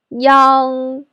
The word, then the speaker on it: iang: Iang is pronounced as yang. When it's a syllable on its own, we write it as yang.